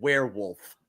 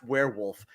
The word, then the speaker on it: Werwulf: century werewolf movie called werewolf I think it's pronounced werewolf but and what you